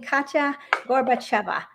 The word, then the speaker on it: Katya Gorbacheva: I went to Veg Fest a few months ago and I had the wonderful blessing of meeting Katya Gorbacheva. Maybe I said it wrong. No, you said it perfectly.